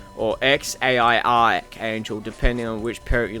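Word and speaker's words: X Æ A-Xii: how to pronounce it it seems to be x-ash archangel or x-a-i-i angel depending on which parrot you listen to so yeah his name is pronounced x-ash archangel because it's x which is the unknown variable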